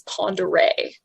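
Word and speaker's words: Pend Oreille: hanging from the ear and the corrector and pronunciation is panda ray hooray i said okay not the fun what's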